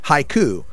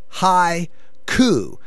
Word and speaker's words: High Coup: Mighty High coup now when I first heard it I thought it was mighty Haiku like a Japanese poem that is a 575 syllable structure no no no not ha cou hi coup like the overthrow of a government by stoned people people so mighty High